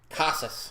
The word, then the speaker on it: Casas: so that's on me LLY casus is how you pronounce I said cases earlier that's my bad but the first pitch